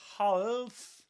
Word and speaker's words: half: We don't say half. Half. It's half. Half. Cut it in half. Half with the same vowel sound as in um garden. Garden. Half. This long a sound.